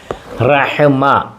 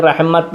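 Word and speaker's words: رحمة: റഹ്മ റഹ്മ അത റഹ്മത്ത് എന്നും പറയും താന് ഉച്ചാരണം കൊടുക്കാറില്ല റഹ്മത്തു ഫുൾ സ്റ്റോപ്പിൽ റഹ്മത്ത് എന്നും പറയാറുണ്ട് റഹ്മ കാരുണ്യം റഹ്മ കാരുണ്യം കൃപ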